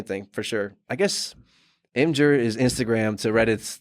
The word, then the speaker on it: Imgur: I call it Imgur. Yeah, I think it's Imgur, like the giraffe. You know, the M giraffe was like a thing.